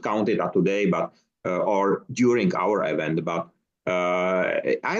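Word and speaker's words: og: I completely erased 12 years of education, so not And enough. in Danish it's O. Oh, Yeah. E-O. is it written just an O? There's O-G, but the G is silent.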